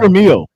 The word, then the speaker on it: Vermeil: Vermeil.